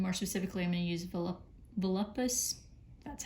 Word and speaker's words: Volupus: Now to do this, I'm gonna use contrast paints, and more specifically, I'm gonna use Volupus, that's how you say it, pink.